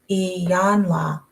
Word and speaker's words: Iyanla: because I looked up Iyanla. Long E, yawn, like you yawn when you get tired. La.